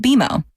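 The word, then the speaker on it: BMO: more common than you think but we actually pronounce it bimo as in with bimo you can earn a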